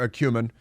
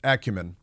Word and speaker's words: acumen: Acumen or Acumen Acumen some prefer a cumin to Acumen it's like accuse ACC accuse Acumen Accu uh Acumen or accused so many uh you know the more common pronunciation is uh Acumen but some say it should be a cumin uh but never mind